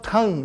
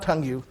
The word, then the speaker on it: tongue: Didn't I say you have to pronounce tongue, not tongue, you?